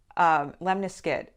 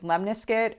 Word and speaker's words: lemniscate: say a lemniscate, but lemniscate. Okay, so you can pronounce it two different ways. It's lemniscate or lemniscate.